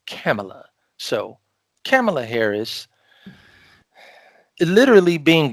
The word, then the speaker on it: Kamala: to say about camella i'm sorry i've been pronouncing her name wrong so now i understand it's camella so kamala harris literally